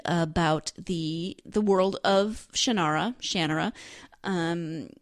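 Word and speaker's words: Shannara: his shanara series shanara shanara again I don't know how he pronounces it I grew up pronouncing it in my head shanara the Audi book narrators all say shanur so you know I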